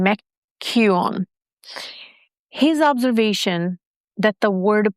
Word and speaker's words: McKeown: I think I butchered his last name. McKeown.